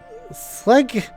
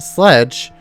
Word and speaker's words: Sleg: Sleg is pronounced sledge.